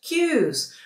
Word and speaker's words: queue: Po brytyjsku bardziej możesz powiedzieć queues.